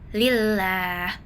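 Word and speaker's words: لله: Jadi cara bacanya bunyi lam dibaca tipis atau lembut bukan tebal. Jadi lillah bukan lillah bukan tapi lillah. Lamnya tak ditebalkan.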